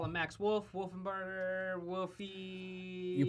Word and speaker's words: Wolfenbarger: You could either call him Max Wolf, Wolfenbarger, Wolfie. You pronounce it right, Max Wolfenbarger.